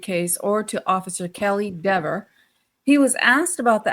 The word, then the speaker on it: Dever: In his unequivocal denial, Cox stated, I notice you did use the correct pronunciation according to Ms. Dever. You said Dever, not don't call me Dever.